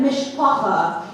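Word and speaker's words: mishpocha: and part of the mishpaka I don't know if you know that word um it's Yiddish pronounced that way and it means family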